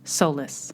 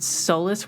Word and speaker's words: solace: Hello again, and thank you for listening to episode 9 of Artist Solace.